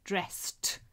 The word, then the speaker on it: dressed: Again, I hope you can hear dresses is an extra syllable and dressed is the correct answer.